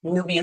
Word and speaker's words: Knubia: Again, Nubia spelled with a K. KNUBIA, Nubia.